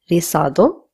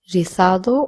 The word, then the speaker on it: rizado: Now, the word curly in Spanish is rizado, which means curly. Again, the Z will be pronounced as th or so. So you can either say rizado or rizado.